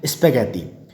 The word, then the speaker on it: spaghetti: It is believed that noodles traveled west from China to become spaghetti, और या spaghetti बोलते हैं इसको, साइलेंट हो जाएगा हमारा।